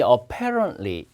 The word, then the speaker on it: apparently: 그러니까 여러분 이 apparently 이 틀리로 끝나면 T 발음 하지 말고 그냥 apparently 이렇게 읽으면 되는데 이게 명백하게라고 하지 않고요.